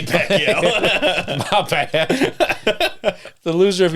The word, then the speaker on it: Pacquiao: I think you're spelling it wrong. Or you're pronouncing it wrong. Pacquiao. You said Pacquiao. That's Manny Pacquiao.